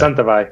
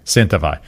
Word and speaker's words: Santa Vall: familiar, Santa Velo Santa Velo, how do they pronounce it? What do they say? Santa Velo. Santa Velo.